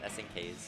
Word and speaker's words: SNKZ: As up on the winner side where we should be going next, we're going to have SNKZ, or SNKs versus Mars. I do believe it's just pronounced SNKs.